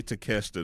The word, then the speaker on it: Takeshita: He cannot say Takeshita to save his life.